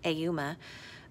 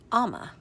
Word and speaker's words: Ama: I was saying Ayuma, but it's Ama.